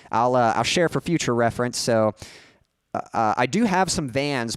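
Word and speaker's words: éS: So I do have some Vans, but interestingly, some of you know that I do skateboard. My preferred skate shoe is a brand called S. It's spelled E-S.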